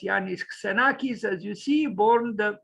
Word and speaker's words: Iannis: let's read Janice senakis also spelled with a Y um pronounced yes yanis as you see born